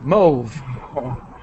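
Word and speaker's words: mauve: oh mo move it it's originally French so it's kind of like a French pronunciation move okay move talk about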